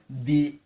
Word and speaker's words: the: ও আছে চার নাম্বার পাঁচ নাম্বার হলো ইউ দি আমব্রেলা তাহলে আমরা প্রথমে পাঁচটা ভাওয়েল পেয়েছি এ